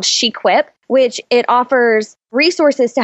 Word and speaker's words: SheQuip: Shequip, like equip, but for girls.